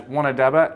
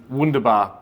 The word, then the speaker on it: Wunderbar: I wrote my notes wrong, so sorry, Bainey, but I pronounced my impact bet as Wanadaba instead of Wunderbar because I put an A in my notes.